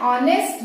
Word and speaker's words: honest: ठीक है, तो देखिए एन ऑनेस्ट गर्ल, ऑनेस्ट, यहाँ पे देखिए स्पेलिंग है HONEST, ऑनेस्ट, ऑनेस्ट। ठीक है, लेकिन यहाँ पे एच, यहाँ क्या हो गया, ये हमारा एच साइलेंट हो गया।